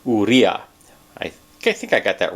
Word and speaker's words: Urrea: i pronounced that right it's u r r e a but it's pronounced urea i think i got